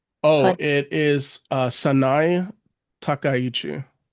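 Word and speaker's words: Takaichi: How to pronounce the name? Oh, it is uh Sai Takayichi.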